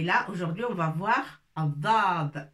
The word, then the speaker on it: الضاد: Et là, aujourd'hui, on va voir Addad. On sort un petit peu la langue entre les dents pour prononcer Addad.